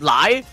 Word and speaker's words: Lei: Lei is also pronounced as lie like chai too.